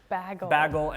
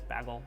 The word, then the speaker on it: bagel: so i'm sorry a and ah pronunciations are switched baggle and bag big big big bagel bagel well there you have